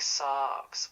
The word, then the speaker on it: seax: In Old English, it likely sounded more like sarx, with a long A that carried the word. In Scandinavian tongues, Old Norse would have had a similar sarx feel, though with a Norse edge, a bit like a saga being sung.